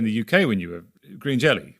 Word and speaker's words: Green Jellÿ: UK when you were Green Jellÿ, we pronounced it pretty much as it was spelled, post-lawsuit, or threat of lawsuit.